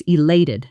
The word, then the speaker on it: elated: That's elated, not just happy. Shadow it. Elated. Elated. Stress on the second syllable.